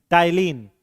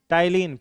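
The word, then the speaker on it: ptyalin: टलीन। कौन सा enzyme? टाइलीन। P silent है। ठीक है? क्या पढ़ेंगे इसको? टलीन।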